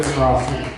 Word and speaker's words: Degrassi: Degrassi, no! Did I say it right, or Degrassi? It's either.